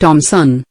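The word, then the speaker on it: Thomson: J. Edgar Thompson, pronounced Thompson, was the president of the Pennsylvania Railroad then.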